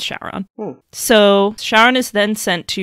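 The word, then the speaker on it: Syaoran: It's supposed to be a Chinese name, but when translated into Japanese katakana, the pronunciation changes to Shaoran. And then it's like a game of telephone. When it gets translated back into English, that context gets lost and it becomes Shaoran.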